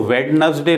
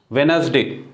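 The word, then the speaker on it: Wednesday: वेनसडे, डब्ल्यू ई डी एन ई एस डी ए वाई, बुधवार जिसको हम बोलते हैं वो वेडनसडे नहीं है, ठीक, उसका उच्चारण यहाँ डी जो है वो साइलेंट है, ये बिल्कुल ध्यान रखना, इसमें अक्सर गलती करते हैं लोग। वेनसडे, वेनसडे, ठीक, वेनसडे, डी यहाँ साइलेंट है, डी का साउंड यहाँ नहीं होगा।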